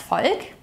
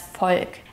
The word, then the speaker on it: Volk: Das Volk, which means the people. Here the V is pronounced as an F sound. Yeah, das Volk.